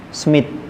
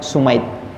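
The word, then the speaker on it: Sumait: namanya Syekh Abdurrahman Bin Smith kalau kita bisa bacanya SMI tapi kalau bahasa Arab bacanya sumaid Syekh Abdurrahman Bin sumaid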